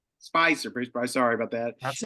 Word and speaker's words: Spizer: have uh an unbelievable re resource in Bruce Spitzer uh who has written now Bruce 12 13 20 how many books 16 books on the Beatles and it's actually and it's actually pronounced spyer Spicer Bruce sorry about that that's okay I've been